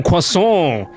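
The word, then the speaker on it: croissant: fluent French speaker and she was adamant she would say it would piss her off when people didn't know how to pronounce the wordon correctly she repeated it to me it's quason you got Get your nose into it in there.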